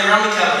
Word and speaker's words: Rummikub: Because Rummikub, or as some people that call it Rummikube. Why? It's pronounced Rummikub. There's no U-E at the end.